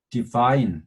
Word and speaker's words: divine: divine, 여기 파랑색은 I라고 발음이 되는데 knife일 때처럼 ITY가 붙으면 영향을 받아서 divinity예요.